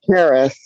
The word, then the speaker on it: Keris: Is it? How do you say your name? Yeah, it's Karis. Karis, how you doing? Karis like Paris. Hey, first of all, thank you so much for the presentation.